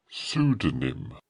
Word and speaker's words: pseudonym: I think there is a P on pseudonym. P-S-E-U-D-O-N-Y-M. That is the correct spelling of pseudonym and pronunciation with our silent P. It is a sneaky P.